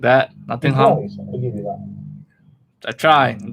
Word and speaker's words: Nottingham: Say it like a British person. Nottingham. Most Americans pronounce it ham. Nottingham. Like that. Nottingham.